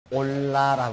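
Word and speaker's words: עֹלָה: 번제는 히브리어 문으로 올라라고 한다. 올라라고 그렇게 말하는데, 그것은 재물을 태우는 연기가 위로 올란다는 뜻을 가지고 있다. 우리말 발음하고 비슷하죠.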